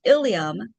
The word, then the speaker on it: ilium: 10 in your textbook, this first ilium, they're both pronounced illiam that is means a bone or a pelvis. And then the second one, iliam, pronounced the same way but spelled differently.